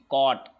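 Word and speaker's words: caught: आए होंगे लेते हैं तीसरा नियम लास्ट में जब जी एचटी आए तो जी एच साइलेंट होता है और जी के बाद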